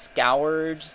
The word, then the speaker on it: Scourge: There are people who think it's supposed to be pronounced scourge, scrooge, scourge.